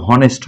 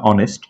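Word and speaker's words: honest: consonant ব্যতিক্রম হয় যেখানে এইচ এর হ উচ্চারণ হয় না, কারণ এটার উচ্চারণ কিন্তু হনেস্ট হয় না, অনেস্ট, তো এইচ এর হ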